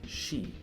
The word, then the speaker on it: shi: The number 4 in Japan, if you're not aware, is very superstitious and often avoided, as it can be pronounced as she, the word for death.